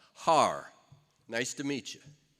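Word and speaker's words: Haarer: on my birth certificate is spelled h a a r e r har nice to meet you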